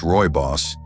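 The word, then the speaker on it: rooibos: Roy Boss, pronounced Roy Boss, tea, comes from a shrub native to South Africa.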